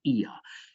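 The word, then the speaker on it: Oia: the spectacular town of Ia. Yes, it's spelled O-I-A, but it's pronounced Ia here.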